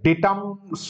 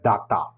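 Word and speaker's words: data: থেকে জেনেরা ঠিক আছে ডেটাস হবে না এটা ডাটা মানে ডেটা উচ্চারণটা ডাটা হয় না সোজনে ডাটা হয় ইংরেজিতে যা কিছু যেটা আমরা ডাটা বলি ওটা একচুয়ালি ডেটা ডেটা ডেটা উচ্চারণ হচ্ছে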